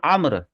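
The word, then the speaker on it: عمرو: कर देता हूं हजरत उमर का नाम कहीं आए और उसके साथ वाव लगा हुआ हो तो फिर वह उमर नहीं है फिर वो व आईन पर जबर है अमर है और वाव वो साइलेंट है अंडरस्टैंड अमर तो हजरत अब्दुल्लाह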